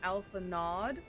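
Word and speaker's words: Alphinaud: dumb uh for um phonetically it's like if I were to read it phonetically it' be Alpha nod um so I think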